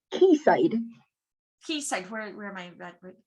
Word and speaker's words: Quayside: cave shepherd and two supermarkets we call it keysight what is it it's pronounced keyside keysight where am i redwood keysight okay thank